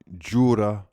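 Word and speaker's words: Joorabchian: Kia Jurabshian.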